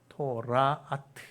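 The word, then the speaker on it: תולעת: 벌레란 말 보시면 이게 오 발음이니까 토가 타우잖아요. 토라아트.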